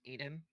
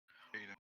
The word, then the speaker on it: Aiden: It's pronounced Aiden, Aiden. Okay. but with an Irish accent.